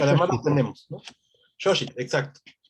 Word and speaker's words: Xochitl: Xochitl es una Xochitl, palabra difícil de Xochitl, pronunciar, sí, porque además lo Xochitl. tenemos, ¿no? Xochitl, exacto.